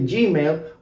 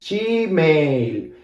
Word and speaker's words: Gmail: So in Argentina, we don't say Gmail, but we say she. This is the Argentine pronunciation. I know it's funny, but this is the way we say it. This G here, we say she, because we don't really know English, so we pronounce it our way, you know? So we say she, and then mail is exactly the same. Mail, Gmail.